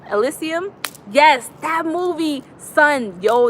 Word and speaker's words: Elysium: the mvp asylee how do you say that elysium elysium yes that movie son yo that movie is